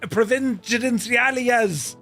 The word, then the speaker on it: Providenciales: the Lineage 1000 for a flight out of Providenciales, a odd way over to Princess Juliana. I got the pronunciation right earlier.